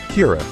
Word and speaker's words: Kira: give it a name, Kira, which is just the Japanese pronunciation of killer, which means Light's supervillain name is literally just killer in a different accent.